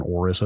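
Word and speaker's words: Aorus: x670 hour orus orus I think people have landed on orus as the pronunciation a o r u I believe it's the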